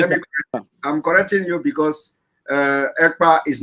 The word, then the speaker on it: Ekpa: And my name is not Akpan. My name is Ekpa.